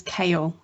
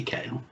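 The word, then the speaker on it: Kail: in the not being Like able a to pronounce Moy. names. Lacamoire. And Thomas Cale directed the Televised. televised Like production. the vegetable or Yeah. C. K It's A I L. K-A-I-L. Oh, Yeah. fancy kale.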